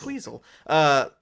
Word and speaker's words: Queasel: Well, I went like Queasel. Like weasel. Queasel.